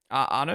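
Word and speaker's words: Arnoux: Jackie X Renee Anu Anu is how you pronounce it.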